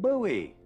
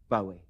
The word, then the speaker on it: Bowie: it's much more masculine Bowie sounds like buttons and bows it's kind of certified